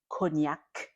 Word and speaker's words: cognac: The word on the screen that's cognac the c at the end is not silent.